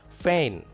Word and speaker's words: feign: Feign. In feign, G is silent.